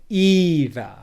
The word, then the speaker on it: either: like it either okay can you hear how that syllable e in either is more stressed also than the syllable before it so it either it